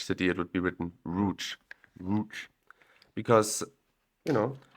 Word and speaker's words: Łódź: roou because you know this polish L with the line through it is a w and the Z with an accento on top of it is a sh and the D is relatively silent so lots becomes rou now Lots you may